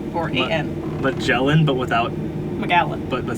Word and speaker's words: Magallan: How do you spell it? Magallen or A-N. Magellan, but without, Magallan.